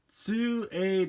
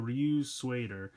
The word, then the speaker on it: Ryutsueider: I always have a hard time pronouncing this, but it's Ryutsueider, kind of almost like the American word suede, so it's like the Ryutsueider.